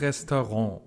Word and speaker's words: Restaurant: Das Restaurant. And this last one is pronounced the French way, restaurant.